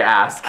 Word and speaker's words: ask: way ask us no you say it act i say ask okay fine whatever even